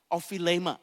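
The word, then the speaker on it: ὀφείλημα: Bapak Ibu, kata kesalahan ini diambil dari kata Yunani, yaitu ophilema. Jadi bahasanya itu kalau pronounce-nya itu saya cek tadi pagi, ophilema cara bacanya.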